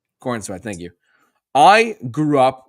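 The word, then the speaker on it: Corenswet: Was it Kornswith? What? I'm butchering it again. I'm sorry, Justin. How do you say it? Corinat.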